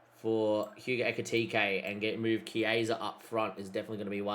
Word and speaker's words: Chiesa: It is Chiesa, by the way, not Kezia.